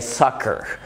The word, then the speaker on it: soccer: وفي استثناءات، احيانا الاثنين سي بيتنطقوا كي في كلمه زي soccer، يعني الكره القدم في الامريكان انجلش.